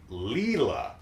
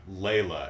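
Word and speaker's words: Lela: her name is um leela we've finally taken in a girl younger than her lilos not layla as i had originally pronounced it and this is as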